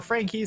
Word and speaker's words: FAK: have frank e sports the fak is pronounced frank i believe and on the other